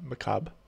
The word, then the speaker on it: macabre: By the way, it's Macabre. Just an FYI. Oh, Yeah. Macabre. Yeah, Right, it's thanks. it means like you should Google it sometime. It basically means horse. Yeah. but- Right. Yeah, I pronounced it wrong for a while too, and then I heard how it was said. I'm like, oh, that's how you say it.